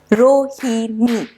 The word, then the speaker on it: Rohini: Although it's not an English name, but I can still figure out how many beats are there in it. Rohini. So there are 3 beats in my name or 3 syllables in mine.